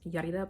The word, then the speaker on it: Yarida: If you're Latino, you can say my name so easy, like real easy. Anyone who is not, I'm thinking like, I've had Hindi people pronounce my name like perfectly, but because they can roll their tongue good.